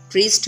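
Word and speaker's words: wrist: रिस्ट में W silent है.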